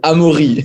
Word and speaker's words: Amaury: excited about this episode welcome to the show amari peron yo thank you very much so the good pronunciation the real french pronunciation is amuri that was my first question george is spending